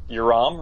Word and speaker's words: Yoram: Yoram rhymes with your mom.